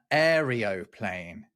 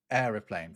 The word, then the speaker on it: aeroplane: There are a lot of quotes that describe people pronouncing it as uh aerial plane instead of aeroplane.